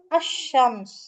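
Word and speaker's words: الشمس: இந்த லாம் சைலெண்ட் ஆயிரும் அதே மாதிரி அல் பிளஸ் ஷம்ஸ் அப்போ அஷ்ஷம்ஸ் லாமை நீங்க உச்சரிக்க கூடாது இப்போ நம்ம கத்தார்ல இருக்கும்ல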